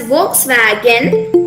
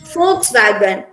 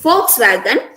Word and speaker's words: Volkswagen: german car brand uh it's we read it as volkswagen but here the correct pronunciation is volkswagen it's not volkswagen it's volkswagen uh i told you this